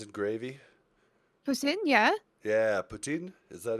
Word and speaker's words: poutine: Yeah, poutine. Is that how you say it? Poutine, yeah. It's not poutine like everybody seems to want to call it, because that sounds gross. Putin.